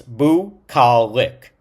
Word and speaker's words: bucolic: And how it is written and the type of word, it's bucolic. Bu, like bu, ca, lic. And it's three-syllable word.